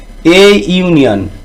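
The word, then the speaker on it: union: দেখো এখানে করেছি এ ইউনিয়ন, ইউ এর উচ্চারণ ইউ এর মতো সেই জন্য এ ইউনিয়ন।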